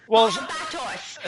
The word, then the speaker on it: Barbatos: Barbatos.